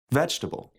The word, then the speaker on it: vegetable: interesting interesting put the stress on the first syllable making it interesting vegetable vegetable vegetable okay so you got to some